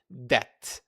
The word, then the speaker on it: debt: But here, the correct answer is C, debt. So, the B is silent.